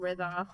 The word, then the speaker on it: Rida: Hello, I'm Rida, And you pronounce it like 'rhythm', so 'rhythm', 'Ritha'...